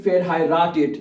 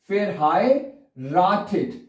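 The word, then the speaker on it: verheiratet: फेर हाय राट इट ये लफ्ज जरा मैं उसको प्रोनाउंस कर दूं अच्छी तरह से क्योंकि ये लफ्ज मैंने कई दफा स्टूडेंट्स को देखा है कि वो सही तरह प्रोनाउंस नहीं कर पाते अगर आप शादीशुदा है तो आपने क्या कहना है इ बीन पहले क्या पढ़ना है फेयर फिर हाय फेर हाय राट इट है तीन हिस्सों में तोड़ दे न फस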